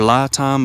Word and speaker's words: LiTime: It's pronounced li time. It looks like le time or li time, but it's actually li time is the corre correct pronunciation.